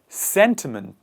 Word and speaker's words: sentiment: photographer next one is sentiment sentiment what are sentiments sentiments are one person's emotions this the stress is on the first part and the initial part of the word sentiments and when we combine